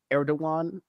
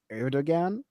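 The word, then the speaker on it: Erdoğan: But at least Bam is not saying Erdogan, right? Because I've heard some leftists pronounce it Erdogan, and I'm like, we're done. You clearly don't pay attention to Turkey if you're pronouncing it Erdogan.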